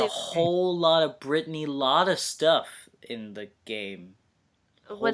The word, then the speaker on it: Lauda: A There's lot of people were like Lauda, and I'm like, no, it's Lauda.